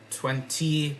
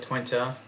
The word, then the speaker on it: Twente: Then you have FC Twente, not 20, but Twente. It's another Dutch club.